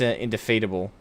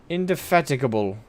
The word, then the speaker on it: indefatigable: by our I always say I think it's indefeatable. I think the G is silent, but I'm not sure. This is one of those words. Indefatigable.